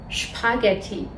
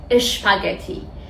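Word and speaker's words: Spaghetti: یا شپورت شپورت شپورت شپاگتی شپس دقت کنید که اینها رو اش تلفظ نمیکنیم نمیگیم اشپاگتی اشترس اشپورت میگیمپورت شپاگتی یادتون باشه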